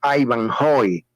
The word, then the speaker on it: Haivanjoe: originalmente el nombre se escribe ivane pero se pronuncia Ivan hoy y el escribano cuando me registró las oficial